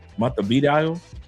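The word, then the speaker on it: Montevideo: M. Monte Vio. Midio. Did I pronounce it correctly? M. Because I know the E makes the A sound. Vido.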